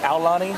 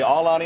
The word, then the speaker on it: Aulani: pronouncing that right mike is it aulani that is correct good job now here's some people say all ani i think people say you know i'm gonna really hawaiianize it i tell you what